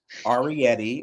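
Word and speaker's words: Arrietty: godamn okay next up arietti which I don't understand why it's not pronounced ariy I feel like arietti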